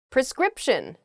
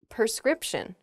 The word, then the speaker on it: prescription: write you a prescription some people might say prescription wow okay I I didn't even notice and I was doing it while I was telling you guys not to do it that's embarrassing prescription a doctor writes you a prescription not a prescription uh when you go